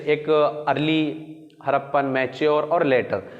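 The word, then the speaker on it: Harappa: हड़प्पा इसे कहते हैं, इंग्लिश में हड़प्पा प्रोनाउंसिएशन होता है, हड़प्पा।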